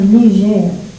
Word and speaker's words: Niger: Pronounced two ways, Niger or Niger.